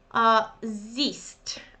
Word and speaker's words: siehst: Siehst. Okay, but many people find it really difficult because of kind of spelling, or so you don't pronounce H and you say siehst.